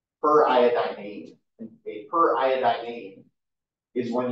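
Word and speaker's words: periodinane: Seems like there's an extra syllable in there, but that's actually correct. It's iodine-ane. Per iodine-ane.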